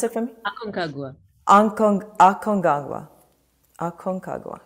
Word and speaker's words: Aconcagua: Can you pronounce it for me? Aconcagua.